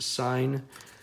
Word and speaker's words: sin: As I said, although this is marked sin, it is pronounced sign.